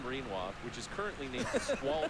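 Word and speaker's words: Rinoa: Uh we only get to name Squall and uh Renoa. My brain always wants to read read that as Reinwa. Quinoa. That's my favorite. That's my favorite. Yeah, it rhymes. It's the same.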